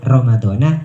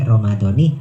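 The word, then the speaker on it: رمضانِ: kemudian bisa menerima tanwin tidak lagi dibaca Ramadan tetapi Romadhoni karena mudhoff Jadi bagaimana cara bacanya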